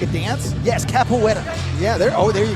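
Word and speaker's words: capoeira: Yes, capoetta.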